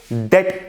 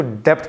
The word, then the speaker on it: debt: सबसे पहले हम बात करेंगे डेट ट्रैप की। दोस्तों डेट जो है, असल में कई लोग उसको डेप्ट पढ़ते हैं, DEBT, B इसमें साइलेंट है, बेसिकली इसको डेट पढ़ते हैं, B इज साइलेंट।